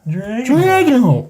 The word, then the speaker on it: Dragonholt: That's how it's pronounced. Dragonholt.